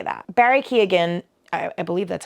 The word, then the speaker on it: Keoghan: Barry Keoghan, I believe that's how you say his name. Keoghan. No, Jacob Elordi and him were in an interview. I think it is Keoghan.